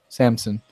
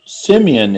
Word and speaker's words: Simeon: of the tribe of Samson, had openly brought. Is that how you say it? Samson in English? I can never. I think it's Simeon, isn't it? Simeon. Thank you.